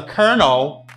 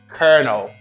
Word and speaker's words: colonel: you say colonel for example he is the colonel of the US Army he is the colonel of the US Army he is the colal of the US Army you say konel and the mispronounced word is this people say